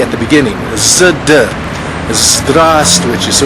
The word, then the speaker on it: Здравствуйте: Здравствуйте. I'm sorry, one more time? Здравствуйте. But we pronounce здравствуйте. We omit the letter V.